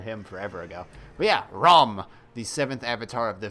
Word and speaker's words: Rama: Anyway, so, Ram. It says Rama, but it's pronounced Ram.